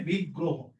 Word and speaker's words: বিগ্রহ: এই যে একটু বলছিলাম যদি শব্দের শেষে অ আছে কিন্তু তার আগে যদি র ফলা থাকে এই র ফলাযুক্ত শব্দের উচ্চারণটা কিসের মত হবে? ও এর মত।